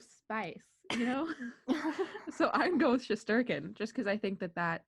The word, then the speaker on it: Shesterkin: Shesterkin. The emphasis on the wrong syllable. Really? Shesterkin. Oh, Shesterkin.